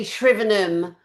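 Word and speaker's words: Shrivenham: So, Oxfordshire shrven. Am I pronouncing that one right? Sh. We say shvenm.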